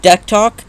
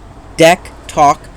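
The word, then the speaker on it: DECtalk: was just like you know what I have deck talk which is a synthesizer it's been used for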